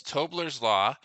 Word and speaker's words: Tobler's law: mention that again in case I'm getting the name wrong yeah so it's tobler's law um it's actually a law of geography if